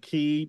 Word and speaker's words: Qi: Yes, chi, you call it chi.